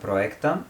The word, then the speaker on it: проекта: Помогни на Иван за проекта. Can you say it well with the accent on the last syllable? Okay. Проекта.